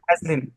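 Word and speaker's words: Vaseline: Actually জি ভেজলিন না, ভ্যাজলিন। ভ্যাজলিন।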